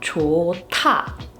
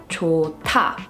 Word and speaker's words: 좋다: The word 좋다, which means, good, something's good, as you can see, is a combination of a Hieut 받침 and is immediately followed by 다, or a 디귿. This word would be pronounced 좋다, 좋다.